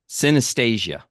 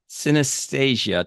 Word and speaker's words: synesthesia: Man, I got to pronounce this right. Synesthesia.